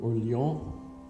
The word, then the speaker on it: Orléans: look around in Orléans, which is the way the French, I guess, pronounce Orleans, as we pronounce it New Orleans, right? Well, the French obviously don't say all their consonants, so you have Orléans.